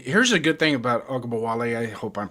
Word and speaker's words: Ogunbowale: Here's a good thing about Ogabawale. I hope I'm pronouncing his name right. Please bear with me. Is he can also kick field goals. Ogunbowale.